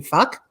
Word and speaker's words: Fluck: It's fuck with a silent L. So it is actually fuck.